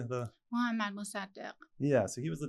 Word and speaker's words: Mohammad Mossadegh: Mohammad Mossadegh.